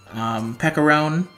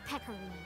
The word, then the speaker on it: Pecorine: I hope to pull Pecorone. Wait, how do you say that name again? Hey, yes. I'm the perpetually peckish Pecorine. Pecorine, okay. I don't know why I keep saying it wrong.